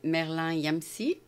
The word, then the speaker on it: Merlin Yamssi: Nous avons aujourd'hui avec nous Merlin Yamsi. Oui, C'est comme ça que ça se prononce?